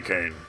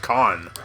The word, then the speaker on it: Kane: called this character Billy Kane but if I hadn't played remembered potato free one I would have known that his name is pronounced last name pronounced con but Billy Kane I'm